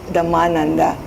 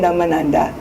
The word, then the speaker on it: Dhammananda: His name is Dhammananda. My name is Dhammananda. The emphasis on the vowel is at a different place.